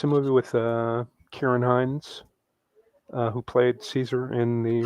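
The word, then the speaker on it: Ciarán Hinds: yeah it's a it's a movie with uh Kieran Hine who played Caesar in the Rome Miner that's how you pronounce his name yeah Karen oh because I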